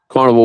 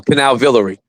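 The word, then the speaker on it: Canal Villere: You're saying it wrong. Canal Villery. Canal Villery.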